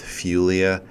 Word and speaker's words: Fuglia: name is Jesse Smith fuglia I think of Julia with an F maybe that helps you pronounce the last part of it my email address is